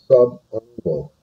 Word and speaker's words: subungual: Okay, the first one over on the left-hand side, this is pronounced subungual.